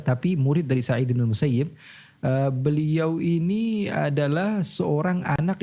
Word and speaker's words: Musayyib: Kalau kita baca dalam Bukhari, Muslim dan kitab-kitab hadis yang lainnya, kita akan dapati tulisannya tetap Musayyab. Okay. Tapi kita diharuskan membacanya Musayyib.